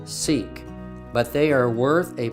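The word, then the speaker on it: Siq: five we come to the sick or pronounced seek this is a long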